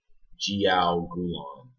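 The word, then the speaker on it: jiaogulan: Jiogulong.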